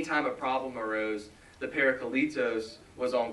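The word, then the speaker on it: παράκλητος: And he said the word is, like, for helper and comforter is, I can never pronounce it right. But it's parakletos.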